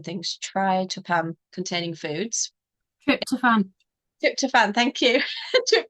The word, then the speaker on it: tryptophan: more try try try I'm not good with pronouncing things try toam containing foods trip toan trip toan thank you trip toan containing foods